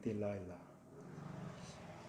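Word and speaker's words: Delilah: 우리 성경에는 데릴라라고 되어 있는데 영어 발음을 하자면 딜라일라.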